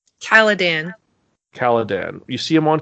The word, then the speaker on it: Caladan: Personally, I like the fact that we only see the beginning of uh, Duke Leto on Cardon? Caladan.